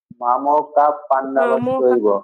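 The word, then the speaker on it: मामकाः पाण्डवाश्चैव: এরপর তাহলে আমার মামকা বিসর্গ আছে পাণ্ডবাস জৈব, এর উচ্চারণটা আমি কিভাবে করবো? মামো আটক করে পাণ্ডবাস জৈব। মামকা পাণ্ডবাশ্চৈব।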